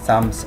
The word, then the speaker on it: psalms: dharma sangit, and psalms এখানে কিন্তু পিটা উচ্চারণ হবে না, psalms or dharma sangit, psalms or dharma sangit-এর কথা এখানে বলা হচ্ছে।